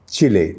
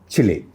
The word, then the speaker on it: Chile: Once again, correctly pronounced the Spanish way, Chile, not Chile, Chile.